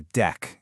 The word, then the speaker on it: deque: Most people just call it a deck, and you pronounce it just like a deck of cards.